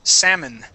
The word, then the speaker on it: salmon: Now this word here, we don't pronounce that that L. The word is salmon.